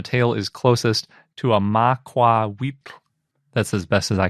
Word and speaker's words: macuahuitl: is closest to a macuahuitl. That's as best as I can pronounce it. It's got that nahuatl lateral fricative at the end of it, so it's kind of tricky to pronounce.